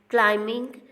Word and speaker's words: climbing: In climbing, B is silent letter.